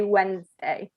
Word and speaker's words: Wednesday: pronunciation of wednesday so you don't pronounce the d in wednesday it's um you know like this is silent so just say wednesday try and say it